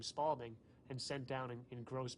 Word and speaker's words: Spalding: it was originally known, became affectionately known as the Spaldeen, based upon the way New Yorkers would pronounce the company name of Spalding. And we called it Spaldeen, because we thought it was called a Spalding. It's Spalding. But I just realized, I was like, oh.